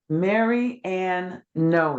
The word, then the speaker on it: Mary Ann Noe: just doing it four novels at the door Mary Ann Noe did I pronounce that right you bet yes Marianne and